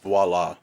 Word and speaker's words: Viola: It's pronounced voila.